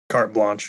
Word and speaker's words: carte blanche: Carte blanche? Carte blanche, yeah.